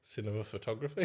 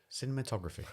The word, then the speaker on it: cinematography: Cinema photography. Yeah, I went for too many syllables. Cinematography. That's the one.